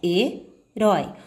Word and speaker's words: herói: Quando você for separar a palavra herói, vai ficar herói. Observe que a última sílaba é que foi com maior intensidade. Isso quer dizer que ela é classificada como oxítona. A última sílaba da palavra é tônica.